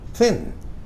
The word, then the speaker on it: thin: Ini meskipun 4 huruf tapi bacanya bertekanan teman-teman ya. Thin.